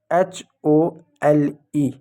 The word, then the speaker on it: hole: लेकिन ये जो ई है वो साइलेंट होगा, ई को नहीं पढ़ेंगे। जैसे एक शब्द मैं लिखता हूँ HOLE।